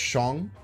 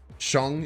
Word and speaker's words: Shang: I say Sean all the time because it's pronounced Shong. Shong is the correct way to pronounce it in Chinese.